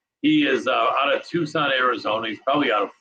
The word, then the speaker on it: Tucson: out of tucson arizona a place that most people call tuxen if they don't know how it's pronounced so for those of you looking that all this time think it's tucson it's tucson um and he is